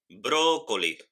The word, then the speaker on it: brócoli: oral está en la tercera sílaba se llama esdrújula por ejemplo brócoli brou lee tenemos el acento ahora en la tercera sílaba o cómelo también águila